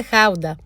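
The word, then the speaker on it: Gouda: Είχε ένα πλατό ανά δύο άτομα με γκούντα και πικάντικη μουστάρδα. Το οποίο παιδιά το προφέρουμε λάθος. Μια ζωή. Προφέρεται χάουτα.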